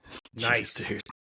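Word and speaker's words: gneiss: went over your head if you Google it g NE I SS that's Rock to nice it's pronounced nice so you're welcome that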